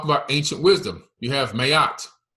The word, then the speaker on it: Maat: You have Mayat. Okay, that's the true pronunciation, Mayat. Some call it Maat, but it's really Mayat.